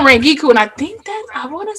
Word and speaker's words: Rangiku: Rengiku, It's like, yep, why do you Rengiku, stress his name like that? Is it Rangiku? yep, Giku Matsumoto.